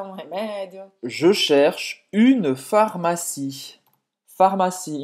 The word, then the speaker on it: pharmacie: Je cherche une pharmacie. Pharmacie. Em francês, pharmacie é com esse PH, mas é o mesmo som. Pharmacie. O E no final é mudo.